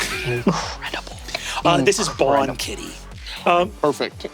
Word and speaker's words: Bawn: This is Bawn Kitty. Perfect. Bon kitty, like good cat?